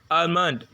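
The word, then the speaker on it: almond: அமண்ட். ஸோ அமண்ட். ஸோ அமண்ட்ங்கிற word middle L வந்திருக்கு, ஆனால் நான் என்ன செய்யலை?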